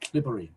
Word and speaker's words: Cleobury: by M&M Baldwin of Clibbury Mortimer, near Kidderminster. I do like that name. Spelt Cleobury, but pronounced Clibbury.